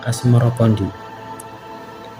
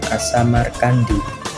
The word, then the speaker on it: Asmorokondi: Sebutan itu mengikuti pengucapan lidah Jawa dalam melafalkan As-Samarkandi yang kemudian berubah menjadi Asmorokondi.